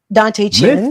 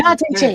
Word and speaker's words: Dante Chen: Dante Chin. Mr. Mr. Dante Chin. Dad, man, his name Dante Chen. His name is Dante Chen.